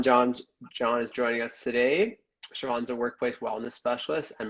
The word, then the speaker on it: Chivon: Well, firstly, can you correct me if I was wrong on the pronunciation of your name? No, Siobhan, you're right.